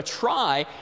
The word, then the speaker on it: trie: the word retrieval which for some reason is pronounced different from the word tries but a try is a tree the word tree was already